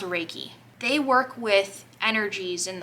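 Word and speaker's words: Reiki: how you spell it I think it's pronounced raiki they work with energies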